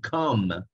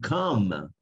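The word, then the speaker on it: comb: un verbo no to come que es peinarse o el cepillo para peinar es un coma no se pronuncia esta vez tampoco vamos a continuar en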